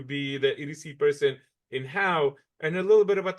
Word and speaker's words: Howe: It's Howe. Nobody in Texas knows how to spell it except the locals.